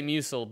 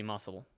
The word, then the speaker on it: muscle: do you pronounce muscle i used to say mucil but it is technically muscle it's supposed to be muscle what about ligma oh